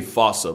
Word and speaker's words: fossa: to lemurs everywhere the fusa I'm pretty sure it's actually fossa but the day I pronounce it like that is the day I lay my childhood to rest the Foos